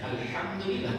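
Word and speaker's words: الحمد لله: Ada juga orang baca alhamdulillah, harusnya alhamdulillah pakai ha, ya. Ha itu letaknya di tengah tenggorokan, adapun ha itu di bawah.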